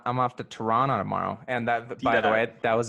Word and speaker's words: Toronto: the the little T the little T is the second T in a word and you kind of dampen it you don't really pronounce it yeah like the Tennessee